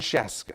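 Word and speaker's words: Scieszka: as a kid, I didn't know how to pronounce the last name Sheska. Oh, are you kidding? But his name is John Sheska.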